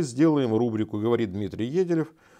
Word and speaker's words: Еделев: то мы так и сделаем рубрику, говорит Дмитрий Еделев. Я правильно ударение ставлю?